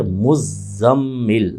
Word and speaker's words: مزمل: تلفظ آدمی کر دے۔ صحیح لفظ ہے مزمل، زے پہ بھی تشدید ہے اور میم پہ بھی تشدید ہے، مزمل۔ اب چونکہ یہ مزمل